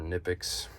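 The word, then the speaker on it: Knipex: tools I have are nippi and yes I do say it that way I don't feel like there should be an extra syllable for just a Kay um love these love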